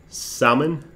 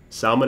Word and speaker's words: Salman: if you are real salmon Salman is how you say your name there you go must